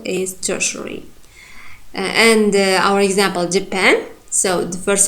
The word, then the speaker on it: Japan: So you should pronounce it Japan. The second syllable should be strong, primary stressed.